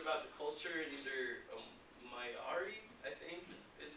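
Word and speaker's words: Māori: These are Maori, I think, is how that's pronounced.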